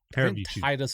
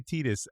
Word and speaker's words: Titus: you say his name Titus is the right I've always said Titus but some some yeah some say tetus Morgan will tell us